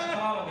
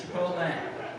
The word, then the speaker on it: Chipotle: correting people on the pronunciation of Chipotle not Chicot guys Chipotle keeping all you safe